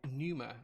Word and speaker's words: Pneuma: be building a numa i think it's pronounced numero it's got a silent p at the beginning i don't know if it's numa or penumer or pen numer but i'm going to call it the numer um and that's